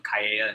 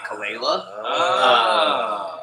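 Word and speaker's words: Calella: in Puerto Rico but the name actually comes from callea in Spain um spelled c-a-l-e-l-l-a and we changed it phonetically so that people weren't calling me kalela and so smart it's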